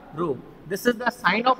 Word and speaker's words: rho: This is the symbolic notation of resistivity, and it is called rho. We will pronunciate it as a rho.